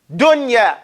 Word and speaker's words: dunya: You pronounce that noon like idhar. Clearly and independent. You don't mix it. Okay? You don't mix the sound. They give two examples. Dunya.